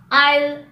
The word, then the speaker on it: aisle: The letter S is silent before an L in the following words: island, aisle, debris.